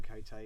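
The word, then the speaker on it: Quixote: Charlotte Lennox good Lord the female cot or the female Cate depend on how you pronounce it I say female cot remarkable text but also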